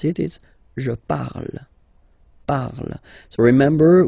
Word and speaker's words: parle: it is je parle, parle. So remember, we put it, okay, but then we don't really pronounce it, je parle, okay.